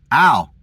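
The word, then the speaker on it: אל: The Hebrew word for no is al. Just like that. Al, which sounds like the name al.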